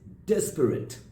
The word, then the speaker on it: disparate: Of course, it's disparate. How do we pronounce it? Disparate. Disparate and not disparate, right?